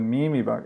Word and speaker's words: Memebox: Oh, the Mimi Box. Is it really? Are you serious right now? Is it the Mimi Box?